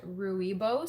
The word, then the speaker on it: rooibos: type of tea and i never know if i'm pronouncing this right but i think it's called ruibos so r-o-o-i-b-o-s um it's a black